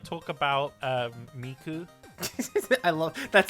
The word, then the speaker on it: IA: and jakc told me it's not pronounced I a it's pronounced I so it's I yeah for the last 10 years I thought it was IIA nah but you know